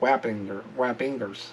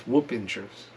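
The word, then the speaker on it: Wappingers: Is Whoop-Ingers. I called it Whappingers. It's Whoop-Ingers. Local pronunciation, not Chicago pronunciation.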